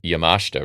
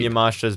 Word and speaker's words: Yamashita: She defeated Miyu Yamashita, right? Is the right way to say it? Kind of like Takeshita, yeah.